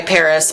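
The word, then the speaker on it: PVRIS: Everybody go look up White Noise by Paris, but it's spelled P-V-R-I-S.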